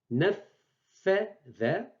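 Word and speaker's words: نفّذ: C'est le the de l'anglais.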